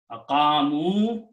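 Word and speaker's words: أقاموا: So separately, the word is aqamu. I have to pronounce wow here because the sign of the plural.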